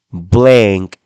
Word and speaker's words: blank: Este blank no se dice blank. No es con sonido de A, sino que hay un leve sonido de E que usted debe pronunciar.